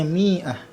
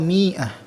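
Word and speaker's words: مائة: Angka 100 ini bacanya mi'ah. Ya, meskipun ini kasrah kemudian ada alif tapi tetap mi'ah. Ada mi'ah atau mi'ah. Ya, bisa dibaca dua-duanya.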